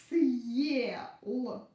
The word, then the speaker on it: съел: So we pronounce this consonant like s, hard. S. And then we pronounce it's not the following. And then we pronounce this vowel like in the alphabet. Ye. S, ye. S, ye. Съел. So listen again. Се, съе. Се, съе. Сел, съел. Сел, съел. Сел, съел. I hope you got the difference.